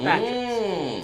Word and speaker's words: Batrix: Batrix is the name. Batrix. Batrix is pretty good. Like Beatrix, but Batrix.